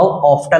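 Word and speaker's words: often: हाउ ऑफ्टन, या इसको आप ऑफन भी प्रोनाउंस कर सकते हैं, टी को आप यहाँ पे साइलेंट भी रख सकते हैं। हाउ ऑफन या हाउ ऑफ्टन का आप यूज कर सकते हैं।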